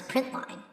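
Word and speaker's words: println: print and print ln print ln which we pronounce print line will go to the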